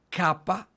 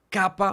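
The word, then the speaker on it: kappa: porque involucran la garganta miren capa Clama con el sonido entonces noten capa miren como la garganta queda involucrada capa gama pronuncien la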